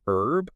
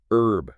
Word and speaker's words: herb: Like in the UK, you often hear herb with a silent H. Herb, right? Whereas in the US, usually it's herb with the H.